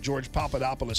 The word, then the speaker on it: Papadopoulos: He told me I was mispronouncing it. George Papadopoulos. I didn't recall. I thought I had that down. George Papadopoulos.